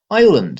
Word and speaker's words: island: Island is another word with a confusing spelling. The S is never pronounced, so how did it get there?